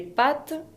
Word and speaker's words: pâtes: Les pâtes, y tiene un accent circonflexe sur le A qui ne change pas la prononciación.